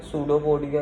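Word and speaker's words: pseudopodia: P silent होता है सूडोपोडिया में, सूडोपोडिया क्रिएट हो गया।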